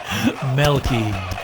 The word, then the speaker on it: Melky: Milky White Milky. Mr. Milquetoast. Except spelt with an E. Melky.